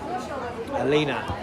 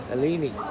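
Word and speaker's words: Aleane: Alina. Alina. Alini. That's what she's told me to say. And I've been calling her Alina. She'll hate me. Spelled it out phonetically. A L E A N E. And I reverted back to my old Irish ways.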